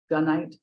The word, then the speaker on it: gunite: I have to tell you that I kind of got stuck when you said gunite, because I have been wondering how to pronounce that.